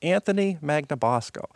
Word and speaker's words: Anthony Magnabosco: I'm and my guest today is Anthony magnabosco Anthony how are you doing today and thank